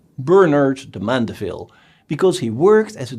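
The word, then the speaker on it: Bernard de Mandeville: book bernard de mondeville the name sounds a bit french but you should pronounce it the english way bernard the mandeville because he worked as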